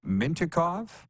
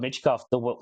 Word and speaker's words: Mintyukov: The Ducks kid, Mintyukov? Yes, Mintyukov, yep.